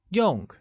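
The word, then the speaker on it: 用: or function translates as Yong which is pronounced using a falling tone how translates as Z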